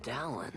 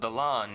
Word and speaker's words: Dallin: they pronounce it Dallin. It's clearly not Dallin. That's like the worst Americanization of a clearly Indian name that I've seen.